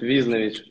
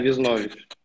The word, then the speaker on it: Визнович: Не, правильно, как раз-таки наоборот, в команде все путают Визнович. Но сейчас уже в основном все просто на погоняло перешли Виза. А так моя фамилия Визнович. На О ударение.